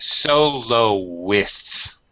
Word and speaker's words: soloist: And soloists. Soloists. Soloist. Three syllables. Let's say soloist.